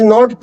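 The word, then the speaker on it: know: यानी कि इसमें जो के है वो हमारा क्या होता है, साइलेंट होता है। तो इट इज नॉट नो, इट इज नो।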